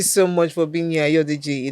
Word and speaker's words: Ayodeji: So make sure you're there for the Future Awards How do you pronounce his name? 2025. Mr. Ayodeji.